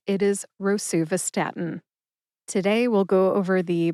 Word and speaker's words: rosuvastatin: Rosuvastatin has 5 syllables. Ro, like you row a boat. Sue, like the nickname for Susan, Sue.